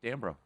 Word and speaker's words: Dambrot: Keith Dambrot. You pronounce the T.